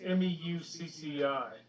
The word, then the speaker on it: Meucci: It's Meucci. But Who? MUE. CCI, Antonio. Muccini. So That's how you pronounce it.